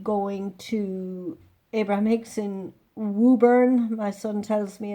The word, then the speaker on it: Woburn: I will be going to Abraham Hicks in Woburn. My son tells me it's pronounced Woburn, outside Boston or near Boston.